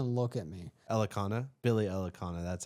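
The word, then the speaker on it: Elekana: The last fight that he was in was Billy Ekalana? Do not even look at me. Elikana? Billy Elikana, that's how you say it.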